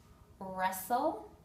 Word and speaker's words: wrestle: have a silent W the W is not pronounced wrist right here your wrist wrestle like the sport of wrestling wrinkle and sword